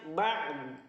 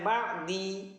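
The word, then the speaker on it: بعض: Bacanya ba'd. Jangan bacanya ba'di, ba'din, nggak bisa. Bacanya ba'd.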